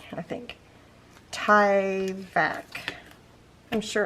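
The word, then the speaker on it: Tyvek: spelled t y v e k i think ty vac i'm sure it's supposed to be pronounced differently it's definitely not my strong suit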